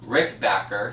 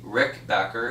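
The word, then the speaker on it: Rickenbacker: was Eddie Rick bit Rick Becker sorry Rick backer it sounds just as you spell it he is not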